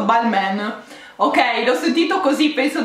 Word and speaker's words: Balmain: abbastanza scioccata ragazzi perché non è balmain non è ball man ma è ball ma